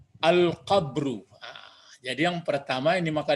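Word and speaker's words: القبر: Pertama apa kira-kira membacanya nih? Al-qab. Jangan. Ya, kenapa kalimat? Nah, jadi yang perlu dipelajari tahap pertama ini kalau ingin berpariwisata abadi, kubur. Ya, al-qabru.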